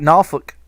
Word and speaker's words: Norfolk: in virginia beach yeah i said it right norfolk that's how we say it down there so uh so yeah